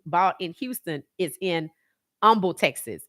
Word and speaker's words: Humble: in Houston is in Umble Texas it's humble but the H is silent and sometimes that's why